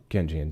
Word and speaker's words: Keynesian: Um like technically you can say the Canian economics is more so progressive. Um in terms Kenzian Kenzian yes mispronounce that.